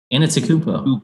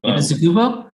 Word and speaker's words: Antetokounmpo: Giannis Antetokounmpo. Antetokounmpo?